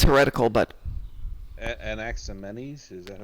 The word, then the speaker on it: Anaximenes: I know it's heretical, but Anaximenes, is that how you say it?